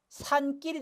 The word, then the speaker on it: 산길: 산 하고 길인데 여기 하나 기억이 더 첨가돼서 뭐가 되죠? 산길이 돼요.